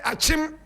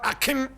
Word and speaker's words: Achim: If the white man could not say Achim, but Akim, if he could not